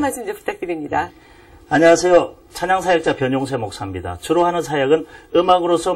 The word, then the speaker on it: 변용세: byy UN 있지 않습니까 한국에서는 변이라고 단번에 발음 하잖아요 근데 영어권에 가면 이게 단번의 발음이 되지 않고 비온 비온 돼요 그러다 보니까 뒤에 용자 합 합치면서 제 이름은 영어권 가면 비요 세가 됩니다 아 그렇군요 이제 하나님께서